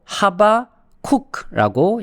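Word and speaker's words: חבקוק: 하박국이라는 이제 이름은 히브리어로 하바쿡라고 이제 발음할 수 있습니다.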